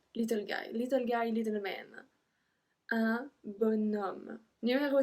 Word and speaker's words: bonhomme: Un bonhomme. Un bon homme. So we are supposed to say un bon homme, but we actually pronounce bon, B-O-N, bonhomme.